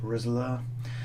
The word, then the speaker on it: Roessler: Roebler, pronounced ROESSLER, quickly became enchanted by the field's tiny spiders.